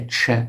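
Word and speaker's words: چ: It has the CH sound, the Che sound, like Che Guevara, something like that.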